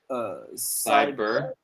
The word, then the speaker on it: cyber: Cycle, Cyber. cyber activity, cyber. Yeah, remember you're saying psycho, but there's no k after it. Like there's no k here, right? It's cyber, right?